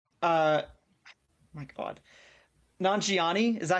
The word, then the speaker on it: Nanjiani: Nanjiani. I've been mispronouncing it wrong this entire time. I always thought that the I was before the J, and I read it today and I'm like, "Oh, it doesn't.